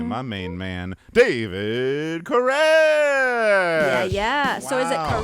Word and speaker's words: Koresh: I want to say my main man, David Koresh. Yeah. So is it Wow. Koresh or Korish?